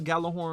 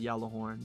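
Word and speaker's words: Gjallarhorn: There was a big difference compared to a player that didn't have a Galah horn on his account and a player that did have a Galahorn in his account.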